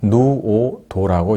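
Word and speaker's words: 穀於菟: 자문은 초나라 대부로 성은 투이고 이름은 누오도라고 읽습니다.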